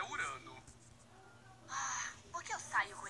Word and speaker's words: Urano: Baixar o volume, tá atrapalhando o strike do Urano. Na verdade, a pronúncia é Urano.